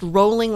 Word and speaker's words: Rowling: one turning down JK Rowling and her name is pronounced rolling like bowling if you don't believe